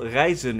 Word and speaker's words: rijzen: Once the batter is nice and smooth, it's time for something that we call reizen in Dutch, which is pronounced as the same word for traveling in Dutch, which is also reizen.